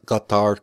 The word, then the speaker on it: Qatar: for how I'm pronouncing Qatar I know it's pronounced with a glottal stop guitar guitar but I'm not